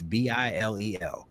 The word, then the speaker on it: Bilel: because I didn't even know that's how you pronounced it. I was being all fancy with it. Bilel. Bilel. It's Bilel.